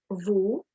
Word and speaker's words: wo: Now, when you're actually pronouncing the question word, make sure your W, that you don't say where, wo, wie, wann, was. Ich kann das kaum sagen. I can't even say it like that. But make sure it's like the English wie, as in very, very. So it's wer, wo, wie,